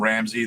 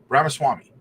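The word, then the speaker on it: Ramaswamy: ra ra I'm just I'm calling him Ramsey that's not how you pronounce it but ramas ramas Swami ramaswami uh these patterns erode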